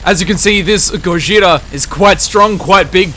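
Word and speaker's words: ゴジラ: it's editor ID is Gojira which is the Japanese word for Godzilla and apparently the correct way to pronounce Godzilla Gojira and then someone went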